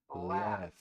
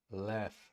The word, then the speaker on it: laugh: Laugh. Notice the GH combination in that word. Laugh.